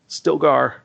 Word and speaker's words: Stilgar: the Fremen, when he meets I want to pronounce it right, Stilgar.